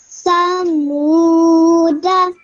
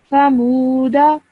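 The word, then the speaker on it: ثمودا: Samuda. Perfect. Okay, this waw is a waw madda. So you stretch that for 2 seconds. That was really good. Samuda.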